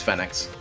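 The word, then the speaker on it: Phenex: it phoenix but it's fenix that's how they like they spell it in english okay i will master it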